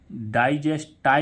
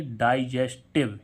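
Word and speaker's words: digestive: टी आई व ई अब इसको डाइजेस्ट टाव नहीं पढ़ेंगे डाइजेस्ट टाव नहीं पढ़ेंगे इसको क्या पढ़ेंगे डाइजेस्टिव यानी कि इसका उच्चारण क्या होगा इव यानी कि आई व यानी कि आई के बाद एक व्यंजन छोड़कर ई आ रहा है इसका उच्चारण क्या होना चाहिए था आई लेकिन आई ना होते हुए क्या हो रहा है इव ठीक है तो डाइजेस्टिव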